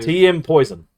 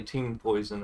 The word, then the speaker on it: Team Poison: TM Poison. It's actually Team Poison. Team Poison. Well, it's the way it's spelled.